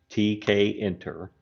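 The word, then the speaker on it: Tkinter: different options to choose from uh we have TK enter and this is pronounced TK enter okay which is actually bundled with python we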